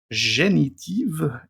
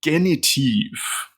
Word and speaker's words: Genitiv: go into the genitive genitive is that why am I pronouncing it with a French accent should be a nice German accent genitive and let me just